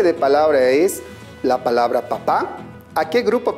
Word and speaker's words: papá: papá a qué grupo pertenece correcto está dentro del grupo de las palabras agudas porque la mayor fuerza de voz se encuentra en la última sílaba le pongo o no le pongo tilde le pongo tilde porque termina en vocal vamos con la siguiente